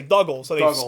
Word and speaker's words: Doogal: Dougal is spelt differently to prevent mispronunciation with voice actors. Doog was spelt like Doug in the original version of the movie. Oh, so I Duggal.